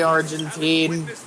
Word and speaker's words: Argenti: I keep forgetting that finishing up this entire You see, me personally, I pronounce it Argenti with the emphasis on the gen.